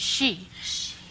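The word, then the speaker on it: xi: I would say that It's actually pronounced she. The X makes an SH sound.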